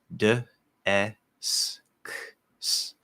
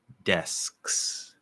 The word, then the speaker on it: desks: But if you are more down here, yes, you would pronounce every sound. D, E, S, K, S, desks, desks, or masks, masks.